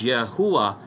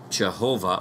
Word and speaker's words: Yahuwah: God in our worship, and that name is Yahuwah and not Jehovah or Yehovah.